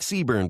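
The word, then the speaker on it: CBRNE: It's like Seaburn, but the E is silent.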